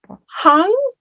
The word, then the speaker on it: hung: And hung without that G pronunciation at the end.